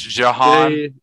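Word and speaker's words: J'Hahn: It's Jahan. J apostrophe H A H N. Okay. I thought it was like a John, but like in my head, I was pronouncing it boss, like John.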